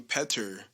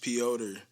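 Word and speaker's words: Petr: pets p ultra yawn it's just like it's spelled p-e-t-r and i and i've been saying peter but i think it's supposed to be pronounced piotr um so sorry for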